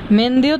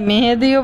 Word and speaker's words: মেহেদি: না মেহেন্দি মেহেন্দি কইলো মেহেন্দিটা হইছে আঞ্চলিক ভাষা শুদ্ধ উচ্চারণ কিন্তু মেহেদি হয় শুদ্ধ উচ্চারণ আপনারা দেখবেন সব ইয়ের মধ্যে কিন্তু মেহেদি লেখা তো মেহেন্দিটা এটা একটা